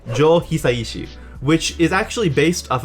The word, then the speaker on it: Hisaishi: kanji for hisaishi uh the first kanji could also be pronounced as ku so it would be kuishi jool quincy jones i